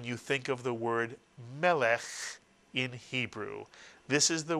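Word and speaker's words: מלך: So how would you read this first syllable? If you said meh, you are correct. And now the second syllable, which ends in a final chaf with a shva written inside it. If you said lech, you are correct. Try putting the word together. Melech is correct.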